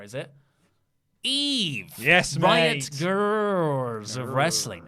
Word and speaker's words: Grrrls: Yes, Riot Girls of Wrestling.